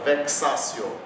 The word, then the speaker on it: vexatio: Então, aonde tem X numa palavra latina, pronuncia-se como XI. Então, no caso aqui, nós temos o exemplo da palavra vexatio. Vexatio, o X tem sempre esse som.